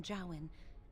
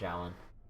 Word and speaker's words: Jowan: It authorized the right on Jowan, and Irving had signed it. Oh, that's how I pronounce it, Jowan.